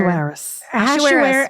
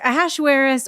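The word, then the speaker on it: Ahasuerus: What is his name here? Asheris. Ashaweris or Xerxes. Depending on if you're reading from a different translation.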